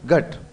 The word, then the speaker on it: घट: यानी घ में क्या आता है? जोर आता है। इसलिए वो क्या बोल रही है? घट।